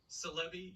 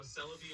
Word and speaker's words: Celebi: can't have mew without celebi yes that's how i pronounce it like celebrity i know celebi is probably the correct